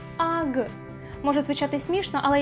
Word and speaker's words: UGG: Марка Ugi в оригіналі вимовляється навіть не як слово, а більше схоже на звук AG.